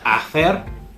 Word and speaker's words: hacer: Real quick, the H in Spanish is silent. So whenever you see an H, don't make that sound. So don't say hacer or hacer. It's hacer, hacer.